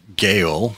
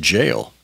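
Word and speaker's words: gaol: And similarly, there's, well, it looks like Gale, but it's pronounced jail.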